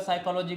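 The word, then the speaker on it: psychology: है ठीक है साइकोलॉजी बहुत लोगों को स्पेलिंग पता नहीं होगा साइकोलॉजी का पी एस वाई सी एच ओ एल ओ जी वाई होता है ये आपका साइकोलॉजी होता है लेकिन पी यहां पे साइलेंट है बहुत सारे ऐसे वर्ड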